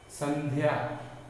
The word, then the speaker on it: संध्या: संध्या, तो ध का उच्चारण कम देर कर रहे हैं, अगर पूरा करेंगे तो शब्द गलत हो जाएगा। संध्या, ये गलत है, संध्या, तो ध का उच्चारण कम है।